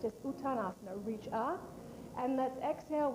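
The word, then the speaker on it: Uttanasana: Now we'll continue now with utita utita asana in this is a standing forward bend. All right. Raise the arms above the head. It's pronounced utana asana. I'm sorry. It's just utanasana.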